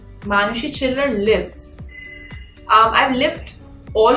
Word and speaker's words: Chhillar: Mama from she her heard she chiller uh ch from chubby and chill you get a chill and hers say so chiller manushi chill uh how